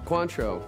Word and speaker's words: Cointreau: is french um quotes help me cointria you country you help me i don't know how to pronounce this country you say i sound like the closest pronunciation cointreau yes your margarita is